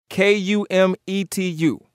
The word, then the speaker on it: Kumetu: So that A and the E are run together and they form one word, K-U-M-E-T-U. And the pronunciation is Kumetu.